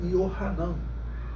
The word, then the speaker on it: Yohanan: misericordioso sendo que agora já tava com a pronúncia do junto com o grego né mas em hebraico era yohanan yohanan eh significa yahvé porque o y ali